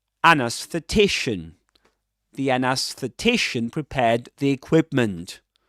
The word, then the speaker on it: anesthetician: Double stressed word. Main stress on t secondary stress on a. An anesthetician.